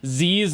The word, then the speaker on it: ZIZ: Somebody clarified that it was supposed to be pronounced Z's, not Ziz, like I said in the last video.